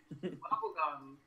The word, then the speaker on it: wobbegong: Wobbegong. Spell it.